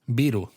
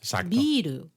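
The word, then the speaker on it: ビール: Biru. Pero atención, eh, con la i larga. Biru, beu, ¿no? De que viene del inglés beer.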